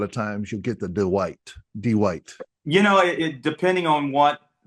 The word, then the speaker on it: Dwight: no, but you know, It's like one syllable though. Really, it's Dwight.